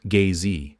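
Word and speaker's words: gzhi: The name for the primal ground in drogchin is gi pronounced gay which translates as basis.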